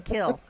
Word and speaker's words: Kiln: well that's like The Kill down here what is a cat the kill down here is spelled k-i-l-n like a kiln but it's black without the lamb but they called The Kill okay all over the